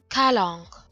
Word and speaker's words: calanque: And yes, I'm sure that's how you pronounce it. Calanque.